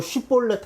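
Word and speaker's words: שיבולת: 너 쉿볼렛 해봐. 이게 히브리어로 곡식의 이삭이라는 뜻이에요. 쉿볼렛 해봐. 이게 이 발음이거든요.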